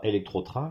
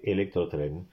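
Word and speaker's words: Electrotren: iberraain imabartraain electrotrain et pas électrotrain comme j'entends très souvent hibertraain aussi et mabarraain voilà alors certes c'est traduit purement en français mais le véritable nom de la marque c'est electrrain train électrique Iber train train ibérique mabal trin alors mabar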